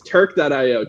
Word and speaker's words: Turq.io: to keep us pure but uh yeah yes turk dot io t u r q dot io i know where we're spell it's a shirt for turquoise that's our branding